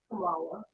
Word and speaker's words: Kymone: Actually, the first actually the first way you did it is the correct way. It's Kamala. Hold on. Don't confuse. No. How would you How How do you pronounce your name again? Kamala.